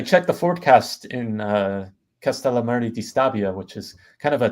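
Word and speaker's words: Castellammare di Stabia: right I I checked the forast in uh castal Mar dbia which is kind of a tongue twister for me like as a native English speaker castal Mari dbia if I'm saying it correctly please Perfect yeah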